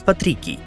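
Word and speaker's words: patricii: The original pronunciation is patrici, hence the common Romance names, which later became Christian among different peoples of mostly Western Europe, Patrick or Patricia.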